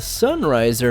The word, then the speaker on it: XN Riser: The XN Riser is actually pronounced the Sunriser and comes from the 00V side story.